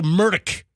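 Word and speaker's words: Murdaugh: And then he said it's Murdoch. Mdock. So Murdock. He that's how he pronounced it. But it looks like a murder dog the way it's spelled and the way guess what?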